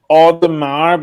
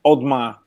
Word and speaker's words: Audemars: So it's like Audemars becomes Audemars. Audemars. Audemars. Yeah, Audemars. You just cancel the E, because otherwise it sounds like you're making too much effort.